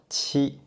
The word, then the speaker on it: qi: Qi. Qi is an aspirated consonant, and you can use the same minor G to pronounce this one. But the puff of fire will be much stronger, and this is the aspirative version.